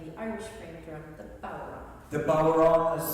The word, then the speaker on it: bodhrán: I was playing the Irish frame drum, the bodhrán. The bodhrán is spelled B-O-D-H-R-A-N, but it's pronounced bodhrán.